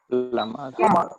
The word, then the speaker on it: plumber: It's not plumber. It's plumber. Plumber. Here we treat plumber. We treat B as a silent word.